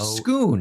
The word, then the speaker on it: Scone: For the record, the village of Skoon Scone in Scotland is pronounced Skoon.